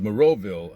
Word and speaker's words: Moreauville: I said, how do you pronounce the name of this town? And she goes, Moreauville.